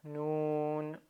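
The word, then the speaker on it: نون: Et à la fin, c'est une forme un petit peu spéciale pour le noun. Pour la prononciation, donc noun avec fetha, ça donne na. C'est pas non, c'est pas né, c'est na.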